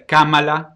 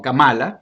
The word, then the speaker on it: Kamala: Acuérdense que es Kamala, como si tuviera acento en la primera A, Ujú, no Kamala, pues ujú, eso es controversial también.